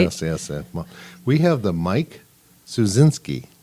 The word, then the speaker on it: Suszczynski: We have the Mike Suszczynski. Correct. Did I do it well? You did it well. Yay! Mike Suszczynski.